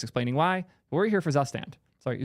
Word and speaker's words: Zustand: my YouTube videos explaining why we're here for zand sorry zand second to only time you'll ever hear me pronounce it even close to correct so what